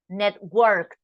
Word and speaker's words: networked: this networked net worked I'm making an emphasis right so you can listen that we pronounce all the sentence I mean all the consonants but of course that we pronounce it together and we are speaking fast it doesn't sound so strong but we are pronouncing three of them networked networks listen it's